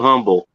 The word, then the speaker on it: Humble: of the skillet company it's it's not humble it's humble there's no the agent everyone around here calls it humble they don't call it humble the h is silent for some reason i